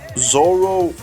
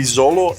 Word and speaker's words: Zoro: Also, Zolo, didn't you matter to explain that in Japan they can't say, right? They pronounce R with an L. So Zolo, no, it's the other way around. So Zoro would be Zolo and Luffy is Ruffy, but they say Luffy because they keep.